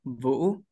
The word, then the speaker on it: Vu: yeah all right yeah you can pronounce my pronounce my name like Vu yeah I hope you can do that because really hot thing when foreigners they pronounce the Vietnamese name yeah we just have one syllable yeah I am uslan